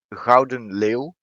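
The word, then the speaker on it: Gouden Leeuw: you got the tier 10 cruiser which is grauden liu which is also um the golden lion of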